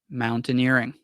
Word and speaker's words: mountaineering: Um, mountaineering. So just mountain, mountain, the word mountain, how mountain is usually pronounced, and then add earring. Earring. Mountaineering. Um, I'm surprised that you've